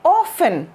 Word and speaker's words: often: ये वाला जो शब्द है हमारा OFTEN, ये क्या है, इसकी प्रोनाउंसिएशन में टी की आवाज नहीं है, इसको आप बोलेंगे ऑफन।